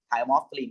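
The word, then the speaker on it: thymolphthalein: पास थाइमोफ्थलीन है, THY थाइमोफ्थलीन, वो blue colour show करेगा, ठीक है। Okay sir. सर इसको प्रोनाउंस कैसे करते हैं? थाइमोफ्थलीन बेटे, थाइमोफ्थलीन, थाइमोफ्थलीन हमारे सिलेबस में है अभी।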